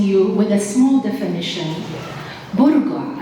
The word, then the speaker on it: burqa: with a small definition buruga as it's pronounced in the uae comes from the word